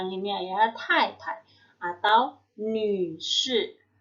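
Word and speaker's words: 女士: Atau Nü Shi. Nü Shi ya, Nü yang mulutnya U keluarnya huruf I ya.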